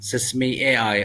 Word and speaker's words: Sesame AI: میں نے ایک خاص سوال کیا ہے۔ اہ اس کا تلفظ ام سیسم اے آئی یا سم اے آئی ہے۔ زبردست سوال۔ نام